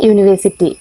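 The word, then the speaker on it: university: ആദ്യത്തെ യു എന്ന അക്ഷരം വൊവൽസിന്റേതാണെങ്കിലും അതിന്റെ ഉച്ചാരണം ഇവിടെ യ എന്നാണ് വരുന്നത്. യ എന്ന ഉച്ചാരണം വൊവൽസിന്റെ ഉച്ചാരണത്തിൽ പെട്ട ഒന്നല്ലല്ലോ.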